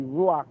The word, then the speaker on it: ruach: me that she said he pronouncing it wrong it need to be ruach and she said no